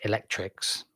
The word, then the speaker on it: ElecRx: The program called ElecRx, or ElecRx, pronounced Electrix, ultimately aims to replace